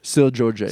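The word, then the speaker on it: Seu Jorge: Still Georgie. Say you. Yeah. It's SEU. Uh-huh. It's Sir George in Whatever. Portuguese. Stupid language it's in. Yeah. Oh, okay. Take it easy. It's Portuguese.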